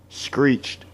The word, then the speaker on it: screeched: Screeched. Oh. Because somebody could try and say, no, that's 2 syllables, screeched. But no, d is never a syllable.